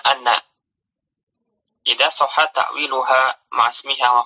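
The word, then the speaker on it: أنّ: Hamzah pada inna itu dibaca fathah, jadi dibacanya anna.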